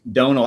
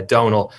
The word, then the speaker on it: Domhnall: and that it's brienne and that your name's donal i i knew your names but i've never